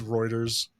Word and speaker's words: Reuters: uh here's one from Rutters from January 23rd 2009 it's Reuters is that how you say it yep all right you uncultured